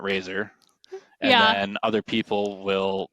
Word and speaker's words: RZR: So it's RZR and some people will call it literally like RZR not Razer. And then other people will spell it R A Z O R, not RZ R.